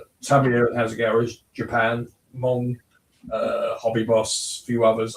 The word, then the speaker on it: Meng: But as I was saying, there are, you talked about, like Bryan says, there's, as he called it, Meng, it's actually pronounced Mong.